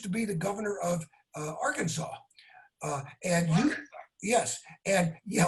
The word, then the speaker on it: Arkansas: And you told him, because Bill Clinton used to be the governor of Arkansas.